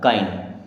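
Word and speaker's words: kind: आधा ना ड माइंड के से बना क बड़ा आ और ई आधा न ड काइंड बी आई एन डी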